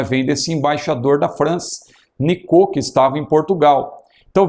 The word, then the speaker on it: Nicot: lá em Portugal um embaixador da França chamado Nicot, não é? Se escreve Nicote, e ele até emprestou o seu nome para o termo que surgiu, nicotina, não é? Vem desse embaixador da França, Nicot, que estava em Portugal.